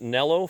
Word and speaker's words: Nelo: And please, people in Europe, stop screaming at me, okay? I'll pronounce it Nell for you.